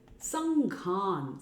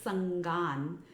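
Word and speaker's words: saṅgham: Bhakta Sanghan, Bhakta devotees, Sanghan, Sangha means group of devotees. Now if we mispronounce it as Bhakta Sangan, not Sanghan, then we are saying Bhakta Sangha.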